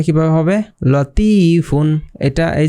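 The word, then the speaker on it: لطيف: তো এটার উচ্চারণটা কিভাবে হবে? লতিফুন।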